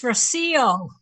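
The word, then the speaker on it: Rocío: It's Rocio. Rocio, sorry. The accent on the I.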